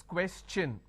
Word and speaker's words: question: have the word question the t i o n becomes CH n so it becomes question all right so please